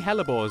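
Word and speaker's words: hellebore: stinking helbor this time which by the way is spelled h e l l e b o r e it feels like it should be h e l l a but it's not anyway there were six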